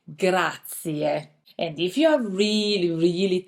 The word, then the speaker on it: grazie: some movies before, but be careful when you pronounce grazie. You need to put emphasis on the last letter, I. Grazie. I know sometimes it's a bit tempting to say grazie, but actually Italian people say grazie.